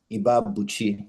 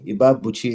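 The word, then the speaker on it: Ibeabuchi: Ibabuchi. Ibabuchi is spelled IBEABUC.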